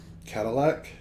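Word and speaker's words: Cattleack: one in Dallas cattle Cadillac spelled like Kate c a t t l e a c k cool okay all right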